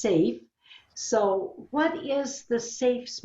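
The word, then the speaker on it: SAHF: the future which is s-a-h-f and is pronounced safe so what is the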